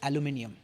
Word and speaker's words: aluminium: Because the US pronunciation is aluminum. Aluminum. The UK pronunciation or the Indian pronunciation is aluminium.